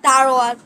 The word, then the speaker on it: দারোয়ান: দারোয়ান শব্দের উচ্চারণ ভেদ অর্থাৎ দারোয়ান শব্দ এখানে দরওয়ান উচ্চারণ করা হয়েছে, যা অনেকের হয়তো বুঝতে অসুবিধা হতে পারে। এটা হবে দারোয়ান।